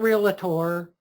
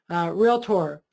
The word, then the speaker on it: Realtor: And it's not Realtor. You don't go to the Docketor. It only has two syllables. Realtor.